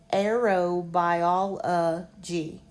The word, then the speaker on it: aerobiology: In this case, this is not schwa. It could be I guess arerabiology but I pronounce it as long O a by all a g. So here we have a long o and here we have schwah arrow by all g.